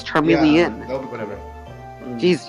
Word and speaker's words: Charmeleon: It's Charmeleon. Yeah, that'll be whatever. Jeez, you guys pronounce stuff so weird.